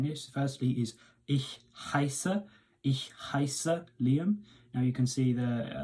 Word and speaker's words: heiße: And when you've got an E and an I together in a word, the letter that is second, so in this case the I, is the one you pronounce.